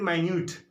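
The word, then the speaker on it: minute: तो यहाँ आपने मिनट कहा और it's very माइन्यूट, there is a very माइन्यूट difference between this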